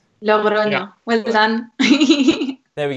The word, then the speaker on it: Logroño: I think is architecture I won't try and pronounce it. I will. Logroño. Logroño.